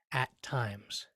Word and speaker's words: at times: it, which each have a similar or almost the same level of greater stress. Bum bum at times.